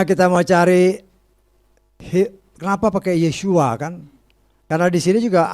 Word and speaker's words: Yeshua: Kau dengar lagu-lagu orang Ibrani, nggak ada yang panggil Yahshua, Yahshua. Semuanya Yeshua, Yeshua.